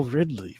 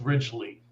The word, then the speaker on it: Ridgely: We have Ridley, which... Did I say your last name right? No. Okay, how do you say it? I mess names up all the time. So do I. It's Ridgely. Ridgely. You know, I was thinking